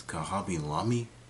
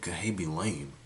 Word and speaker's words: Khaby Lame: translated play his real his real name is kabi Lami people were saying people were saying C be lame that's what that's how people were pronouncing it I'm like that's really